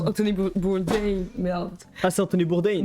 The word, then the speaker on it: Bourdain: Anthony Bourdin, merci pour ton sub. Merci Anthony Bourdin. Mais il se faut runner avec Tu sais ses que ça se beaux prononce Anthony Bourdain, merde.